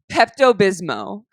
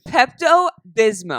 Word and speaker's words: Pepto-Bismol: they know how to read oh my gosh pepto-bismo she says Pepto Bismol we actually Pepto Pepto-Bismol we actually tested this